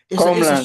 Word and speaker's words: Comland: Is it Comland? Am I pronouncing that right? I don't mean to insult you. Okay. Comland is correct.